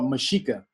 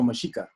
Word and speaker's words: Mexica: The name is really, they would call it Mexica. They would call it the Mexica. Or that's, he's pronounced, yeah, he's not pronouncing the name right, but it was the Mexica.